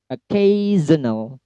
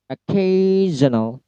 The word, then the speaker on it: occasional: Occasional. Occasional. K-nya yang di stress.